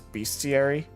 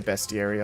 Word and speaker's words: bestiary: I used to always pronounce that as bestiary, just because beast. But I hear people say bestiary a lot more, so...